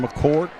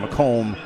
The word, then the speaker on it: McComb: That's 4 fouls now on McCourt. Midwest Satellite. Oh, I'm sorry. Go ahead, Big D. Well, I was mispronouncing his name. McComb.